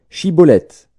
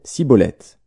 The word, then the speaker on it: shibboleth: non il lui disait alors est bien dit shibboleth et il disait ciboulette car il ne pouvait pas bien prononcer sur quoi les hommes